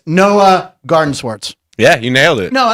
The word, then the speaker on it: Noah Gardenswartz: It's Noah Gardenswartz.